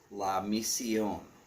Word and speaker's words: La Mission: Oh, as far as chocolate cigars, again, there is La Mission, which looks like mission, but it's pronounced La Mission.